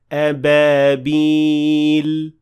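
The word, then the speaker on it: أبابيل: is pure sukoon, and that's why I have to say ababil with sukoon at the end of the word.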